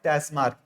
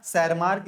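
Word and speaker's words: Tschermak: Hugo de varies और टस मार्क है ना शर मार्क या टस मार्क जो भी कह लीजिए प्रोनाउंस क्या आपके वो है टेस्ट मार्क या फिर सर मार्क तो ये तीनों साइंटिस्ट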